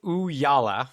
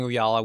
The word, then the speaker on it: Ooyala: It's Ooyala.